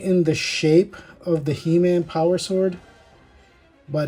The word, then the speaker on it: He-Man: And again, the reason it's pronounced HeMan is because he's in a strange world and they don't know how to say human. So when the beastly animals of this planet say his name, it sounds like HeMan.